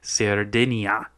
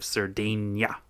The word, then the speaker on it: Sardinia: I should maybe be pronouncing it sardinia instead of sardena and then it would be less confusing when people are listening to it too.